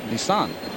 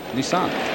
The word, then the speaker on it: Nissan: always pronounce it incorrectly I grew up with Nissan and you go Nissan right that's very interesting yeah cuz I mean the Japanese pronunciation is Nissan hit hard right with